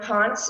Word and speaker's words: Ponts: for sure we have sam ponce is that how you pronounce your last name sam yeah that's right thanks okay from uh